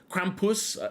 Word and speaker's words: Krampus: The narrow streets in the old city section of Salzburg were packed with pedestrians as the Krampus, Krampus, where you stretch out that last syllable, that's a group of Krampuses.